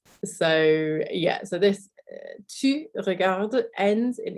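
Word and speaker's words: regardes: watching okay to regard it's pronounced exactly the same but we have an s on the end so if you've listened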